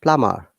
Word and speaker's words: plumber: And second one is plum and plumber, not plumber. Yeah. Similarly, so nama, but plum, number, but plumber. Plum, plum, then plumber, plumber, plumber.